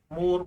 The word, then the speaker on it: Mohr: जैसे बोहर नाम है ना, वैसे मोहर नाम है, MOHR। मोर, मोर ऐसे एच को अगर सही प्रोनाउंसिएट नहीं करते हो तो मोर सोल्ट भी बोल देते हैं इसको।